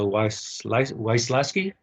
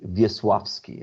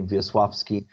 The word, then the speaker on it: Wiesławski: You mentioned Hertz Recording Studio in Poland, the Wysłaski. Did I say it right? The Wysłaski brothers. Yeah, actually, you pronounce it Wiesławski, okay, Wiesławski, because the W is pronounced like V in Polish.